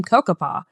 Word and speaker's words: Cocoppa: might recognize the name Cocoppa. That's how I say it, by the way. You might say it a different way. That's how I pronounce it.